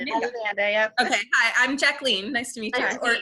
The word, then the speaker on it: Jacqueline: much for joining us you said jacqueline yeah jacqueline okay so it's not jacqueline okay no yeah it's french oh okay jaclyn okay so you actually like to pronounce it wow yeah i am actually 100 french so well no that's not true it's 50 french but i have the